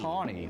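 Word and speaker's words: tawny: for 20 years and it's spelled t a w n y t Tony tny like like the like the color but I love this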